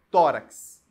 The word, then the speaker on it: tórax: tenho a palavra tórax ó tórax Thor é a sílaba tônica é a penúltima e termina em x perceberam acho que agora